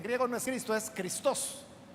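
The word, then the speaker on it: Χριστός: O sea, en griego no es Cristo, es Christos. Ahí lleva la fuerza en la segunda sílaba.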